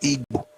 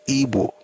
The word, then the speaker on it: Ibo: It's not ego, it's ebo. So we spell it ibo.